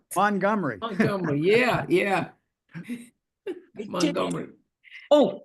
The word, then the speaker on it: Montgomery: How do you pronounce M O N T? G O M E R Y. Do you know I call it Montgomery without a T, but what do you think?